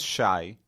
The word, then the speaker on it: Shai: so my name is Shai in Hebrew it's spelled uh Shin yud which is basically the first uh like sh and then a y um and I have